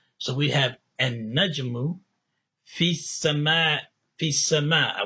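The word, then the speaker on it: النجم: Because noon is a sun letter, you don't pronounce the L or the lam. You double the sound of noon and you say an-najmu, an-najmu, because that's how sun letters are handled. You don't say al.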